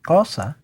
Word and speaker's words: Xhosa: Well, the southernmost Bantu languages like Zulu and Mandela's language, which should be pronounced something like Xhosa, with another click, actually borrowed four basic clicks.